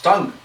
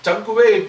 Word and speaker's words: tongue: it is pronounced as tongue." No, this is Tankuve because there is UE there at the end. So it is Tankuve. I said, no sir, that's not. U and E are silent there.